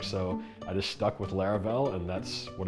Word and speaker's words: Laravel: And I was like, what rhymes with that? And thought Laravel, and I was like, that sounds like something I would use, you know what I mean?